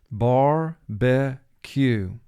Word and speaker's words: barbecue: u bar b q mark the word bar b q we underline the two under the e in the middle syllable because e here is representing its short sound which is an exception to vowel group 2 which would indicate normally it would represent the long sound disbelief disbelief he was